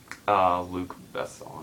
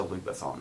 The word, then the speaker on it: Luc Besson: Luc Besson, I think is how you say it.